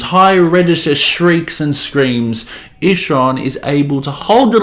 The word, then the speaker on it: Ihsahn: Yes, his name's Ihsahn and the album's called Ihsahn. That's how you pronounce it.